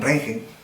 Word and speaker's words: Röntgen: Entonces, este tubo de rayos X, que ya fue precisamente la gran invención de Wilhelm Röntgen, o Wilhelm Röntgen, pronunciado bien, vamos a estudiar un esquema simplificado de cómo es que funciona.